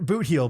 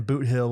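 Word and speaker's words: Bootheel: heel by the way i thought that people were just saying boot hill with an accent you would you know it's safe to assume that they're not pronouncing words correctly down there but that in that instance they are i'm near the blue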